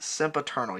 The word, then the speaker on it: Sempiternal: coming out in the fourth studio release entitled sim paternal i hope i'm saying that correct sempiternal yes i have my computer here to make sure that i do not mispronounce any names or mispronounce any song titles